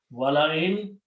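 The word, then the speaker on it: ولئن: Wala, and we don't write this alif here, but we just write down the sound of that in.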